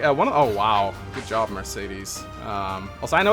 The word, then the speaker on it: Mercedes: Like Mercedes, just how I thought it was pronounced at first. Yeah, I think everyone thought that, so you're not. I mean, it is how you normally pronounce the name. I think Mercedes. It's actually Mercedes. Actually, yeah, actually. Actually, it's pronounced Mercedes, man.